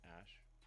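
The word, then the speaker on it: Æ: X um and then the AE is like pronounced Ash what yeah that's the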